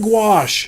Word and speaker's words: gouache: a break nah oh it rhymes with squash oh see i said gouache gosh now i know